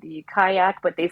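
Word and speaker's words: Qajaq: absolutely delicious there's another greenlandic beer called the kayak but they spell it q-a-j-a-k-a-q-a-k-a-q and that was another delicious IPA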